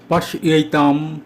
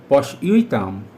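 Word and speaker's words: पश्यैतां: এখানে অনুস্বারের উচ্চারণ ময়ের মতো হয়েছে, কারণ পশ্যৈতাম এর অনুস্বারের পরে প আছে, পাণ্ডুপুত্রানাম প আছে। প বর্গের পঞ্চম বর্ণ ম, তাই অনুস্বারের উচ্চারণ ম হয়েছে।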